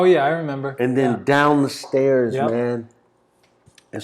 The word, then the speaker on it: Tao: the Hard Rock, and Dow, which most people pronounce Tao. Oops. Yeah. Tao. It's pronounced Dow in the Venetian.